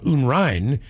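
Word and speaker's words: Unrein: Since my last name is Unrain, pronounced uh unrin means dirty or unclean in German.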